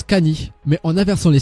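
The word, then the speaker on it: カニ: à Luffy sont plutôt au crabe qui en japonais se prononce Cany mais en inversant les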